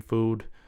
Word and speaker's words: FOOD: That's how the pronunciation is. So it's Food.